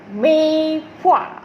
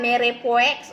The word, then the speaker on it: Mirepoix: Mei puah. Tahu tak mei puah tu apa? Okay, mei puah ataupun ejaan dia Mirepoix. Okay, now bukan merepoix. Okay, right? So dia punya pronunciationnya adalah mei puah.